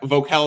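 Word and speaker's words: Voelkel: k l vocal VOC vocal is how you pronounce it v o e l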